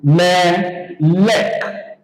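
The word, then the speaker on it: מֶלֶךְ: So the pronunciation will now be me lek. Me lek.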